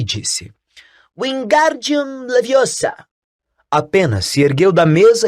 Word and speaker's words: Wingardium Leviosa: Você está dizendo feitiço errado. Harry ouviu Hermione corrigir aborrecida. É Wingardium Leviosa. O gar é bem pronunciado e longo.